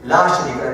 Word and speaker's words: لا شريك: Okay, la sharika. There's no partner, you have no partner. So we need to stretch this to make it long, which emphasizes that that's the actual way of pronouncing this.